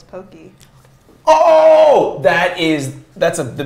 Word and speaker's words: Pocky: molina says i'm japanese americans say it wrong it's pokey oh that is that's